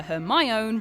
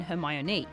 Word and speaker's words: Hermione: pronounce her name properly he calls her her my own rather than her my Anu so a miney decides